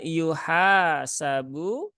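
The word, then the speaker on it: يُحَاسَبُ: ee seperti biasanya kemudian yuhasabu ya hannya Ada Alif maka ini dibaca panjang dua harakat yuhasabu yuhasabu nah gitu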